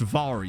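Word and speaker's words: Mhairi: for a little while whose name I was committed to thinking her name was Mary McFarlane. Turns out it's pronounced Vari McFarlane.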